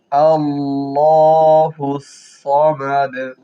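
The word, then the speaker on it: ٱللَّهُ ٱلصَّمَدُ: কুলহুয়ল্লাহু আহাদ আহাদ আল্লাহুস সামাদ আল্লাহ আল্লাহ লামের উপরে খারা জবর আছে এক আলিফ টান হবে আল্লাহুস সমাদ সমাদ সদ সিনের উচ্চারণ না হয় খেয়াল করবেন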